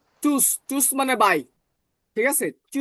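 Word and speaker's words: Tschüss: দেখেন চুচ এবির মত করে এটাকে ডবল এস উচ্চারণ করেন তাহলে কি হয়? চুস।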